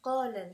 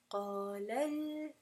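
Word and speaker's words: قالا: So if we just pronounce this qala alhamdu, then you would never hear that it was actually meant to be two people. So in this case, you're going to pronounce it with nabr, and you're going to say qalal, qalal, qalal. You have to make an inflection of sound.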